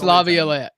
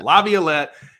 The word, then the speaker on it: Laviolette: I pronounce Jace Laviolette. Thank you, yeah. Laviolette.